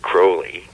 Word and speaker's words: Crowley: California, which is the magical group that Aleister Crowley, as you pronounced it correctly, founded here a long time ago.